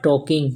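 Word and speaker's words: talking: बातें करना य देखो ल यहां पर के से पहले तो यह साइलेंट हो जा ऐसे केडीएफ के पहले भी आता है तो साइलेंट हो जाता है सबसे ज्यादा ही साइलेंट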